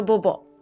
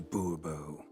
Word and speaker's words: Bourbeau: The Bobo. I don't care. Go for it, Monsieur. Fine. Monsieur de Bourbeau. The Bobo. The emphasis falls on the last syllable.